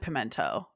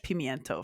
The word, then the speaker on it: pimiento: I'm an idiot aren't I no no people pronounce it pimento but it's it in Spanish pimiento for sure it literally says Queen olive stuff